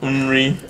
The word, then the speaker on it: nri: It's nri, right? Nri. Yeah. So it starts with an N. So nri. Nri. N-R-I or ne re e. That's how you spell it in Igbo.